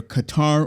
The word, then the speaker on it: Qatar: Mexico Ireland and uh either Qatar or Cutter depending on your pronunciation I usually go with Qatar those are the top